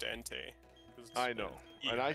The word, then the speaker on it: Entei: some ante hentai probably pronounce stuff differently it's pronounced Entei I know and I said it right earlier